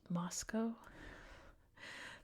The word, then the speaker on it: Moscow: And there's a town that's spelled the same exact way, but it's pronounced Moscow. So now that's my instinct. It's Moscow.